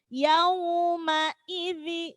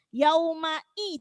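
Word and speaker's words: يومئذ: Yauma idzi, ya. Yauma i, jelaskan i-nya, jangan salah yaumai. Ya. Kadang kita bacanya seperti itu. Jadi i-nya itu tidak jelas. Yaumai. Nah, jangan sampai yaumai.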